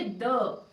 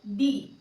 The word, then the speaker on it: the: तो इसीलिए हम यहाँ पे जब द लिखेंगे तो इसे प्रोनाउंस करेंगे द, ना कि डी।